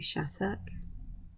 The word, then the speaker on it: Shattuck: I'm going to use my go-to Shattuck. Spelt with 2 T's, but it always sounds like the T's are pronounced as D's.